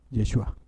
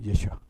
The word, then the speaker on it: Yeshua: no, él se llamaba Yeshua. Y como los hebreos no tenían vocales, entonces era más difícil tratar de pronunciar ese nombre porque es Y SH UA. Ah, no. Ah, no. Y SH. Yeshua.